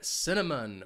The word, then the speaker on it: cinnamon: This spice has three syllables, and the stress is on that first syllable, cinnamon. Notice that C is going to have an S sound, and it's followed by the schwa, cinnamon.